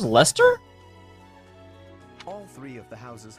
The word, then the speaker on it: Leicester: That's pronounced Lester?